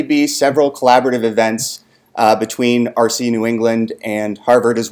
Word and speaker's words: ARCE: Egypt, or ARCE, or usually pronounced RC, with parenthetical apologies to any speakers of British English.